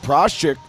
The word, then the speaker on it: Praschzak: Jess Prostak's surname was spelled Praschzak, and actually originally Slovakian, probably pronounced Proschik.